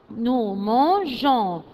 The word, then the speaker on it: mangeons: s nous on mangeons nous mangeons pour que la prononciation sera g et pas gai nous mangeons vous mangez